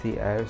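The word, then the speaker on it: cerr: It is pronounced as cair since it is like c-e-r-r, c-error.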